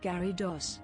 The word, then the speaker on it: Gyarados: This is how you say Gyarados, Gyarados, Gara Yara Doo Doo, G-Yaggle Smith Downsman,